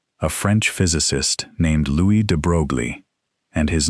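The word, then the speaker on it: de Broglie: In the 1920s, a French physicist named Louis De Brogley, and his name is pronounced de Bruy, in case you were wondering, proposed something audacious.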